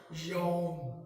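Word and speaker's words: יוֹם: तो ये जो कामिस खतूफ जो है लिखा जाएगा ऐसे ही, लेकिन प्रोनाउंस में आएगा यौम।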